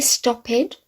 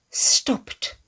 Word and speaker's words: stopped: Can we say stop head? No. Stop. T. Stopped. As you see in brackets.